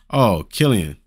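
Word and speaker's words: Cillian: Oh, so it's Killian. It's pronounced like Killian.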